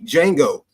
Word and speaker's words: Django: Because you can see D in front of the J, and you actually think that you're supposed to pronounce the D because, this is where